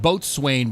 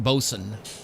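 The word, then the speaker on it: boatswain: And for those who don't know, bosen looks like the word boatain, but it's pronounced bosen.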